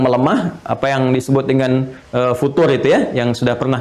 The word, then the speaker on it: futur: Jadi kalau ini sedang melemah, apa yang disebut dengan futur itu ya, yang sudah pernah kita bahas, bukan future, tapi futur. Nah, jadi itu nggak usah di Inggris-Inggrisin, futur. Jadi nggak usah bacanya future.